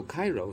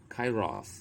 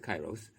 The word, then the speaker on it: Kairos: children know god so cairo what does it mean actually it's pronounced kairos in the greek or that's a closer pronunciation but we pronounce it kairos the perfect delicate crucial